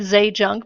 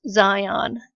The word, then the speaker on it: Zajonc: Bob Zajonc-- yes I know it looks like Zay Junk but his name is pronounced "Zion" Dr.